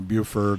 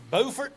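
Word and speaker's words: Beaufort: and grandkids so I'm glad you pronounced Buford correctly I remember years ago I was at history conference in Charleston this fell told me that he was going to go visit bordt South Carolina bordt South Carolina I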